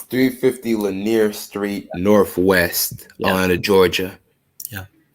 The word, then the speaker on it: Lanier: west atlanta georgia oh okay so it's 350 lanier street northwest atlanta georgia yeah okay okay okay